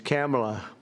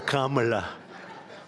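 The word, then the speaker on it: Kamla: It's Kamala, as opposed to Kamala.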